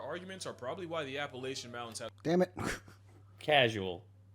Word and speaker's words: Appalachia: But the most notable thing about them is their arguments are probably why the Appalachian Mountains have the reputation.